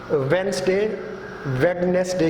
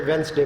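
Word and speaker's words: Wednesday: हफ्ते का दिन है, इसमें डी साइलेंट है, आप नहीं पढ़ेंगे. वेडनेसडे की बजाय डी को अगर साइलेंट करेंगे तो खुद ब खुद ये वेंसडे बन जाएगा.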